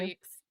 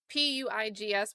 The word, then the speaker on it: Puig: Puigs. The Puigs. Say it again. Puigs. Puigs. It's p u i g s but it's like p w e e g s phonetically.